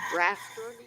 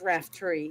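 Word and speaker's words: Raftery: all this time wrong rafter it's raft tree yes and uh quite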